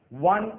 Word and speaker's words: one: अब इनकी spelling O से शुरू होती है, ONE1, लेकिन यहाँ पे वावल साउंड नहीं आता, यहाँ पे साउंड आता है व।